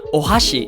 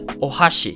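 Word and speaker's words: お箸: Like chopsticks, it's not ohashi, it's ohashi.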